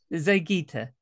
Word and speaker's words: Zeigyte: I mean, I was pretty sure you're going to pronounce it this way. Yeah, it's Zeigyte. Zeigyte.